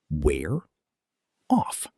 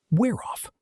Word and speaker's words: wear off: Wear off. Fast. Wear off. The consonant sound at the end links right into the vowel of the preposition.